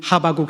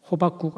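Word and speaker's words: 하박국: 우리가 잘 알고 있는 하바국 선지자, 제가 하바국 선지자 잘 알고 있는 그러면 어떤 분들은 목사님 발음을 잘못하셨나? 호박국 아닌가? 비슷한 발음이다마는 전혀 다릅니다.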